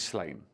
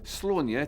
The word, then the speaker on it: Sláine: Celtic barbarian known as slain barbarian fantasy serious slain or sworn year to give him his proper Irish pronunciation was created by then